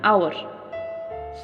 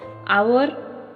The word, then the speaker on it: hour: Okay, so example like an ass, an orange, an hour. So do note that the words hour, hair, honest begin with a vowel sound as the initial H is silent. Okay, here hour you can see, hour means 1 hour.